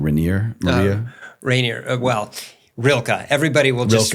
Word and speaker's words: Rilke: I think you started off great in your book with this quote from, am I pronouncing the name Rainier? Rilke. Everybody will just, Rilke.